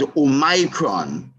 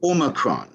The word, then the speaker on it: omicron: name omicron um really some people may want to pronounce oh micron but the eye seems to be silenced as omicron and the world health